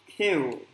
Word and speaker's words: Q: C là có chừng đọc nha, đọc lộn nha mọi người, không đọc là cu e đâu nha mọi người. Không đọc là cu e đâu nha tụi con. Không đọc là cu cu gì đâu nha tụi con. Kiu. Kiu. Mình phải đọc mình phải sang chảnh mọi người, không có bay vô cu cu gì hết. Kiu.